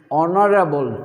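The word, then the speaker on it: honorable: Next, he ইজ ডি অনারেবল to everyone. এখন এখানে যে শব্দটি রয়েছে অনারেবল, এই অনারেবল শব্দটি দেখো এইচ উচ্চারণ হচ্ছে না, ও এর উচ্চারণ আসছে।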